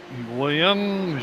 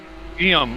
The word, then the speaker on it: Guillaume: William Jobert. Guillaume? How do you say that, Sam? I'm sorry. Guillaume. Okay, Guillaume Jobard.